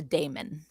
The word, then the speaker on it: daemon: It's a shadowy creature called a daemon. or demon if you prefer to pronounce it that way.